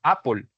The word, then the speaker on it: apple: Las palabras que terminan en L se pronuncian como si terminaran en OL. Listo. Apple, maple, people.